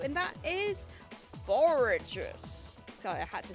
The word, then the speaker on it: Forretress: pick one for Gen 2 and that is foragers so I had to say it like this forretress I like I like a strange design I